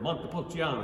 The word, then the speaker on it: montepulciano: fun one to say the word montepulciano you gotta say it like italians dude and if you have